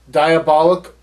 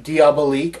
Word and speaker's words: Diabolique: he said the exorcist diabolic or diabolique i've heard it pronounced both ways frankenstein let the right